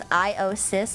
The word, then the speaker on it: IOSYS: Origin of the name is IOSys, like system. Oh, so I'm pronouncing it correctly.